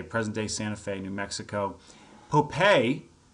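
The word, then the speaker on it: Popé: Santa Fe New Mexico popei and it's spelled a couple ways sometimes it's spelled like Pope with a little tilde over the E sometimes it's spelled p-o apostrophe p-a-y you can see it you'll see it spelled two different ways in different sources he has a statue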